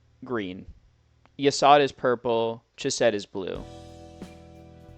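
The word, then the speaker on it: Yesod: There's Yasad. His name is spelled Y-E-S-O-D. Like this. That's Yasad.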